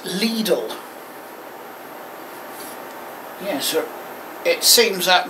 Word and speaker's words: Lidl: so they can expand it yeah it's actually pronounced Lidl yes sir it seems that most of us Brits have been pronouncing it with the cotton I never knew I was pronounced it little cuz you know it's Lidl I don't think